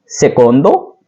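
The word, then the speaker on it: secondo: सेकंड, सेकोंदो, बहुत से सेकंड, सेकोंदी।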